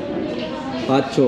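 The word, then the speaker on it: Fazzio: So yun na yung motor na kukunin natin, yung Yamaha Fazio. Paano ba pronounce niyan, bro? Pacho? Pacho, kasi ano, Italian.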